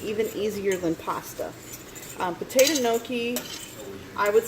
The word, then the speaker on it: gnocchi: Yeah, so if you don't know what gnocchi is, it's spelled funny. It's like spelled with a G. Gnocchi.